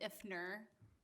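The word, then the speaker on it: Iftner: My new name's Ifner. There's a silent T in there, so I'll make sure everybody gets the spelling, but okay, thank you.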